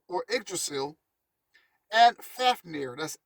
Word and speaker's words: Fafnir: north's mythology tree which we call ordrasil and fafnir that's f a f n i r who